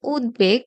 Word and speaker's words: উদ্বেগ: ব এর মতোই হয় যেমন উদ্বেগ এই শব্দটা আসলে গঠিত হয়েছে উৎ যোগ বেগ এভাবে খন্ডত এর সাথে ব এর একটা সংযোগ ঘটেছে আর এই কারণেই এই ব এর উচ্চারণটা লুপ্ত হবে না বা অবিকৃত থাকবে আমরা বয় উচ্চারণ করব